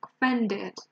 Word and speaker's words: offended: one spend banging it offended and here are many people saying that we stress the first syllable it's actually the second one it's not over well